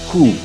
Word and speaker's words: coup: So now, coup becomes coup, as in care or hope. So, and this is another word that looks like. Please excuse me. Yes. Is the P silent here? Yes, it's P. silent. It's coup.